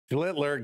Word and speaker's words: Schlittler: Schlittler, got to pronounce that L in there.